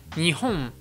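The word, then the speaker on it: 日本: Par exemple, nihon, nihon. Tu remarqueras aussi que ce m japonais est beaucoup plus nasal, notamment la voyelle qui vient avant est un peu nasalisée, contrairement à la prononciation française.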